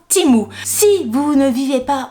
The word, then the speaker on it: Temu: va bien préciser que ça se prononçait Timo ça s'écrit temu mais ça se prononce teeo donc timou si vous ne vivez